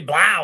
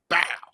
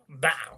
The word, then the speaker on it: Blau: Can I say Blau? Is that how you guys do it? I love it. You got to say it. No, you got to say it like Avery Johnson is saying it, bro.